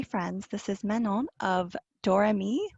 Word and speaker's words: Doremy: my newest dolly friends this is menon of dorami right is that how you pronounce the shop name yep okay and first